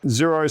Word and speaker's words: Xero: We've got Xero, spelled with an X.